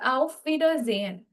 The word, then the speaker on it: Auf Wiedersehen: So the erste or das erste one, the first word that we have here is auf Wiedersehen. Okay. Now if you see your word is broken down into 3 syllables here.